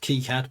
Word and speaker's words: KiCad: And in fact, if we look into KiCad, and now found out that KiCad is in fact pronounced KiCad by the team, this is the bus arbitration and wait logic.